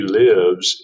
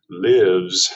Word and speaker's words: live: that's the s form this definition of live has a short eye vowel short but if you say live with a long eye long eye it changes the meaning like in vivo in